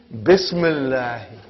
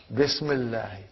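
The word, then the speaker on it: بسم الله: Okay, now see, the hamza of ism is hamzatul wasal. If it comes in the beginning of the sentence, we will pronounce it like ismul waladi. But it did not come in the beginning, something else came in the front, then that hamzatul wasal will not be pronounced.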